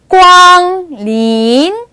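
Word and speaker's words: 光临: 꽝린, 꽝린.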